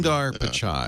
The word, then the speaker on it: Sundar Pichai: And now the guy that's running that company, Sundar Pichai, is that how you say his name? Sundar Pichai. Yeah, he's good. I'm sorry, is that the correct pronunciation? Yeah, Sundar Pichai.